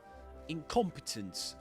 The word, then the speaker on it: incompetence: incompetence. Repeat after me. Stress the second syllable.